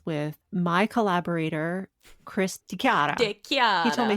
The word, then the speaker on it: DeChiara: DeChiara. He told me how to pronounce his name.